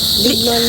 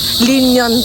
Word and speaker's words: Lignon: Lignon Hill. T's mali pala ang pronunciation ko ano. Linyon palaon pala. L I G N O N.